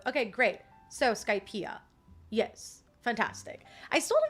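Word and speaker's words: Skypiea: Okay, it's pronounced like Pia, and that one is just both. Okay, great. So Skypeia.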